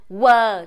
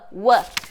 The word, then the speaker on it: one: one two three in one só que na verdade a pronúncia essa Oi Lene final mesmo então a gente fala one One a língua fica aqui no lugar do n de navio então eu coloco aqui